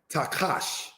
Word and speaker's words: Tahash: Next we have the word Tahash, pronounced, brothers and sisters, as Takash, because again, this letter Ket making its strong KH-like sound.